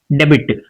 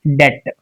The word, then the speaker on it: debt: How in the examples if you look at this word D BT B is silent before T.